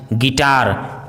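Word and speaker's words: guitar: यदि किसी वर्ड में BU या GU साथ में हो तो U का उच्चारण साइलेंट होता है, जैसे build, building, guess, guest, guide, गिल्टी, guys, गिटार।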